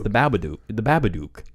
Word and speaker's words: Babadook: It's the Babadook. The Babadook. No, it's Duck. Because it has to rhyme with fucking book.